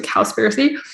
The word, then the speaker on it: Cowspiracy: the documentary on netflix it's like conspiracy but spelled with a w so cowspiracy which you'll see just